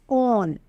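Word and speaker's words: -one: ये 1 नहीं है, this is known as ऑन. ठीक है, और ये भी कहाँ लगेगा? सफिक्स में. प्रोपनॉन, ब्यूटेनॉन, ऑन, ऐसे इसको प्रोनाउंस किया जाता है.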